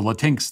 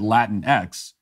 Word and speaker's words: Latinx: the latinx thing will will themselves pronounce it Latin X but you're already giving the left too much ground when you do that I I won't use their false pronunciation even when making fun of it because that's not like La how would you pronounce if you want the word Aladdin X then I guess you'd have to spell it l-a-t-i-n-e-x like maybe then you could justify latex but l-a-t-i-n-x is latinx that's how you pronounce